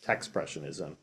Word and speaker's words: Techspressionism: So a lot of people can't have a hard time pronouncing it and think it's Techspressionism, and I just tell people it's expressionism with a T, so just Techspressionism. I'll start with a little